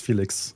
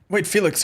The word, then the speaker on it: Felix: I had a breakdown trying to find out how to pronounce Felix the other day. Wait, Felix, how is Felix pronounced? Because in Germany, we would say Felix. But it's not.